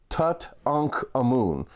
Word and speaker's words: Tutankhamun: finding the tomb of Tut ankh a moon nothing irritates me more than hearing Tutankhamun knowing the proper pronunciation Tut ankh a moon uh so that was